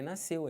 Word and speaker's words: nasceu: o C eu sei isso aqui SC eles não podem ser pronunciados numa palavra que depois desse SC você tenha é ou I por exemplo piscina você tem um I se fosse um e tipo nasceu também não pronuncia mas se você tem